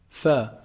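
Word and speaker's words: ف: Fa. Fa is actually pronounced from, combining the edge of the upper incisors when they hit down on the inside part of the lower lip.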